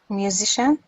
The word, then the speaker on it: musician: And how do you pronounce the C? C-I-A-N. Musician. Do we say ka or do we say sha? Music. No, musician, I think. Are you sure? Musician. Yes, that's it.